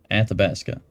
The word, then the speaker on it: Athabasca: Athabasca.